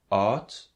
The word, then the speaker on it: oud: It's the same as loud, as in English, except that at the end you don't have to pronounce the W sound. It's loud. Instead of that, it's low, and it's pronounced a little bit different, as in oud, meaning old, and de auto, that's the car.